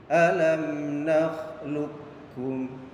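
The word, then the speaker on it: أَلَمْ نَخْلُقْكُمْ: Jadi cara bacanya qafnya tidak dibaca qalqalah, jadi tidak dipantulkan. Jadi suara huruf qaf itu dimasukkan kepada huruf kaf. Pak Guru contohkan lagi, alam nakhluqukum.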